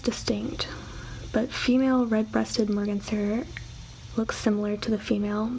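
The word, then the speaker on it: merganser: is clearer my cancer okay I think I said it right the first time and then I kind of said like morganster next we have turkey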